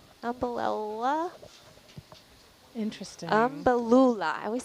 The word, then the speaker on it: Umbellula: It is, we think it's let me say it right, umbellula. Interesting. Umbellula. I always say that wrong. Umbellula. Can you spell that?